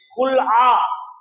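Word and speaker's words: خلع: அந்த விவாகரத்து முறைக்கு அரபியிலே குல் ஆ அதை குலான்னு இவங்க சொல்லிருவாங்க உச்சரிப்பு வராது குலான்னு சொல்லுவாங்க குல் ஆன்னு அதுக்கு பேரு இப்படி ஒரு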